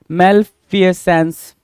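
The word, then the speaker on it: malfeasance: term question number 54 मैल फसेंस मैले फसेंस बोल सकते हो या मैल फसेंस बोलोगे मालफ सेंस की मीनिंग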